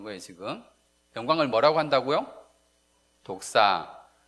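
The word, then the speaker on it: δόξα: 헬라어로 쓰여져 있는데 헬라어에서 영광을 찾아보면 영광이 뭐로 나오냐면 독사라고 나와요. 독사. 따라해 봅시다. 독사. 예. 뱀이 독사. 무은 독사가 아니고 예. 헬라어. 발음이 독사라는 겁니다.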